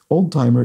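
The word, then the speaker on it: Oldtimer: So let's look at this from Srinks32, who says, old-timer is indeed a German word pronounced the English way.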